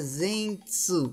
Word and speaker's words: Zenitsu: pronuncia Zenitsu.